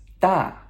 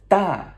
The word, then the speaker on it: 大: Okay, so this character is 大. 大, okay? D-A, fourth tone descending tone, okay? That sharp no. 大, okay?